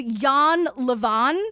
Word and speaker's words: Jan Lewan: want he doesn't care his name is Yan leavon but it's spelled Jan Leen his own wife calls